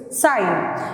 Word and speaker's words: sine: the names so the first trigonometric ratio is sine and on the other side on the right